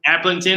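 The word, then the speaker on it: Aplington: Applington, is that how you say it?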